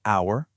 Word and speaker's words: hour: Let's say these words the right way and just totally ignore those sneaky silent letters. You ready? Knife, just knife. Listen, just listen. Hour, just hour.